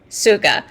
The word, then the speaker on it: Tsuga: So what you're going to find that's very interesting, it's spelled T-S-U-G-A, Suga.